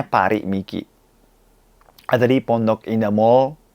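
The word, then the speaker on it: Paris Miki: dari Jepang Paris e nulisnya Paris Mikey tapi e bacanya pari mikei ada di pondok Inda Mall 3 pim 3 jadi teman-teman yang cari kacamata silakan mengunjungi parimiki Indonesia tanggal 29 29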